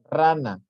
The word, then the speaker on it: rana: Las palabras graves son aquellas cuya sílaba tónica es la penúltima. Esto nada más de aquí lo que se tienen que aprender. Son las que llevan la sílaba tónica o la pronunciación o la entonación o el énfasis en la penúltima sílaba.